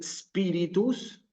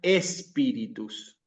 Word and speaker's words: spiritus: Entonces, en vez de decir spiritus, se escucha espíritus. ¿Sí? Entonces, la palabra latina propiamente inicia con la S.